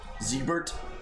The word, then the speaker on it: Siegbert: I am Siegbert, we're spelled with an S. Pine Grip. Ziebert. Siebert, yeah.